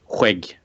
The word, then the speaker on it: skägg: For you guys out there, here on the West Coast we say skägg. And in a sentence, Ta hand om ditt skägg, grabben.